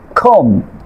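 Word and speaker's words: comb: খেয়াল করেন খম, বম, ঠুম, এখানে খেয়াল করেন এম এর পরে প্রতিটি ওয়ার্ডের শেষে কি আছে, বি আছে, এই জন্য বি লেটারটি সাইলেন্ট থাকবে।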